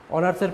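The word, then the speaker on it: honours: অনার্সের প্রথম অক্ষর এইচ থাকা সত্ত্বেও এইচের উচ্চারণ হচ্ছে না অনার্স, যেহেতু অনার্স উচ্চারিত হচ্ছে সেক্ষেত্রে আমরা এন ব্যবহার করেছি।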